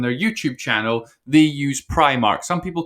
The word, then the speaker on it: Primark: and this is perhaps controversial so i've been pronouncing it as primark and that is what the company has confirmed is the official pronunciation and when you look at their marketing and their youtube channel they use primark some people call it pre-mark but in the